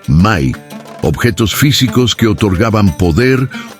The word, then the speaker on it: Me: Textos sumerios mencionan repetidamente Me, pronunciado Mai, objetos físicos que otorgaban poder o conocimiento específico.